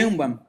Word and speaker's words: Sheinbaum: Sheinbaum.